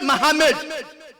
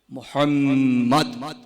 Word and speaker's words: Muhammad: The name is not Muhammad. It's not Muhammad. It is Muhammad.